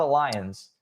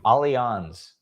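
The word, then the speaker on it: Allianz: Yes, that's how you pronounce it. It's not a lions as I thought it was. Same. Alons.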